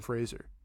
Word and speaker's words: Fraser: you got to go with Brendan Fraser sorry sorry rhymes with laser rhymes with laser you